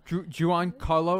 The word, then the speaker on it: Giancarlo: yeah but also uh giancarlo esposito or how do you say his name uh juwan carlo esposito yeah he's in this yeah